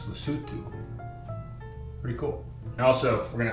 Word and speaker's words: Lesotho: way in last episode we were definitely pronouncing lutu wrong we were saying loto it's lutu pretty cool also we're